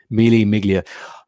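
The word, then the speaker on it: Mille Miglia: news to me james really is melee miglia oh thank you the g is silent dylan sorry guys i'm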